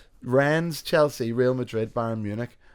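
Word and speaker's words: Rennes: Rens, Chelsea, Real Madrid, Bayern Munich, and Tottenham Hotspur.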